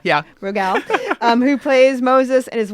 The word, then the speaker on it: Rogal: My guest is comedian Rogal. Am I saying it right? Rogal, yeah. Rogal, who plays Moses and is one of the show's creators.